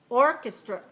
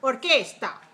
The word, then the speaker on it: orchestra: how about the word orchestra orchestra orchestras let's listen to the orchestra okay so not orgasta that's very good in spanish right and every syllable